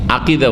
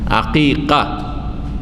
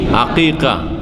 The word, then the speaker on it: আকিকা: আচ্ছা, এই শব্দটির ক্ষেত্রে আম জনগণের একটা ভুল আমাদের দেশে আছে, আকিকা শুদ্ধ উচ্চারণ করতে পারে না, আকিদা বলে।